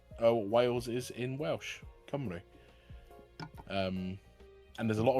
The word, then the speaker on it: Cymru: Um and he and he's been trying to teach me how to pronounce certain things in Welsh as well, like Cymru which is what Welsh uh Wales is in Welsh, Cymru.